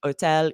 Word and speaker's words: hôtel: French, hôtel, histoire, but then in English, we pronounce that H.